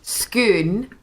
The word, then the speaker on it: Scone: How do the Scottish pronounce it? Is it scone? It's okay. There's the place Scoon.